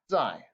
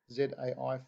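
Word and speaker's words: 在: sure you know it this is pronounced zai zai fourth time die die now it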